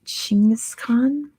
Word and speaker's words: Genghis Khan: Veer who put his Mongolian name it is Genghis Khan good job Veer for getting at first the answer is Genghis Khan which apparently you're supposed to say like genesis Khan is like the correct pronunciation but I mean cake is gone don't